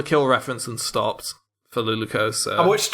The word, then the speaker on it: Luluco: Let's go with Luloko, because I feel like that's the. Fuck It off, triggers me Jonas. because you mispronounce it every single time, Tom. Every time. Every fucking. What, Luluco? Luluco.